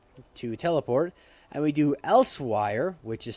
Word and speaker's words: Elsweyr: So if you do COC to teleport, and we do Elsewire, which is spelled ELSWEYR.